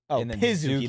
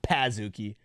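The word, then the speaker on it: Pazookie: z what p i pizuki not Pazuki like can I get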